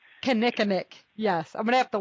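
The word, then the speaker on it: kinnikinnick: me to do the audio for that berry Kemetic Kinnickinnic yes I'm gonna have to listen to you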